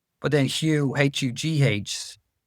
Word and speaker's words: Hugh: h but then hu h u g h. We don't even realize there's a gh there and we don't pronounce it.